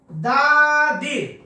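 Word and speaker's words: the: প্রশ্ন এটা নেয়াই যায় দাদির দাদির সি ভি অর্থাৎ মনে রাখবেন যদি হয় শুরুর দা এর পূর্বে শুরুতে যদি কনসোনেন্ট হয় তাহলে উচ্চারণ হবে দা যেমন দা বুক বুক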